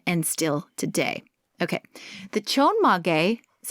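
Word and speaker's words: chonmage: way back then and still today okay the chon mage is how it's pronounced is inspired by a samurai hairstyle of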